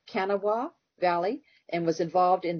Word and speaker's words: Kanawha: It's actually pronounced Kanawha, but just about everybody who has not lived here or known that makes it Kanawha or Kanawha as you did.